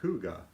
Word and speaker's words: hygge: how you say it Kathy says it's pronounced hygge okay well do get